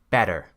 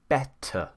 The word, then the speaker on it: better: They would say better. Now what happens there, instead of pronouncing it as a T, an American pronounces it as a D. Better. We say better.